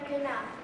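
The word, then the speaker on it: Khnum: I am Knum. That is K-H-N-U-M. The H is silent.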